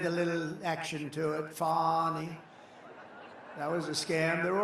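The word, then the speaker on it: Fani: after another, you had Fonnie, F A N I, which is usually pronounced Fanny. And she added the little action to it. Fonnie.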